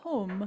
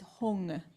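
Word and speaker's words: hūṃ: this please so like often you'll see hung spelled hu M with a DOT under it and people think you're supposed to say home they do but that dot under it is why Hara is saying it's hung so if you see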